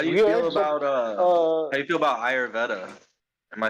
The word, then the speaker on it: Ayurveda: might say it's How do you feel weird, about but how do you feel about Ayurveda? Am I saying it right? I don't know exactly how to say it. yeah, Ayurveda, it helped a lot.